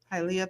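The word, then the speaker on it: Hialeah: haia Florida how do you say that halia halia you're saying it right halia Florida and Orlando where's Toledo Ohio to yeah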